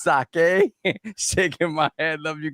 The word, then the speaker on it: sake: Yo, pronouncing sake as saki is diabolical. Shout out the GMBB pods with the $10 in the chat. Pronouncing sake as saki is diabolical. It's sake shaking my head.